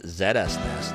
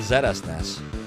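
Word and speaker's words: ZSNES: on field lead zest. You know that's not how you actually pronounce it. It's pronounced Zestnes.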